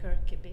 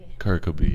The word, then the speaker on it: Kirkeby: you mind telling us the correct way to pronounce my apologies well in English I suppose we could say the kirab kirab yeah it's a beautiful name I love that